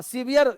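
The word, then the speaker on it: severe: इसलिए इस लिखा था हां सीवियर सेवर नहीं सीवियर पढ़ेंगे इसको सहा सीवियर पेंस इसको सीवियर पढ़ना लिखा है सेवर पढ़ना सीवियर इसको उच्चारण होता है सीवियर सीवियर pain in chest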